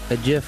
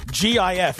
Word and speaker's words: GIF: posted on Twitter a gif of hymns of sign an effete it's pronounced jiff no it's not it's not it's not peanut butter okay it's a gift